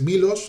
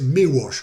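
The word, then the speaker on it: Miłosz: muy muy curioso porque la l del apellido es es muda no suena no es milos aunque no pasaría nada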